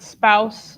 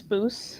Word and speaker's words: spouse: another country and they they found out that spouse sounds like house. They thought it was spoo and I was like, nope. Spouse is in husband and wife rhymes with house.